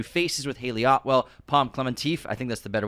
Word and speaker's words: Klementieff: with Haley Atwell, Pom Klementieff, I think that's the better way to pronounce her name. Klementieff? Yeah. Not TF? Well, you said Klementieff. Klementieff. Klementieff. She's French. Klementieff, I think that's how you say it.